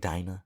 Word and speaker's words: Dena: Dina Dina yeah something it was spelled like Dena but it it pronounced like Dina yeah um but super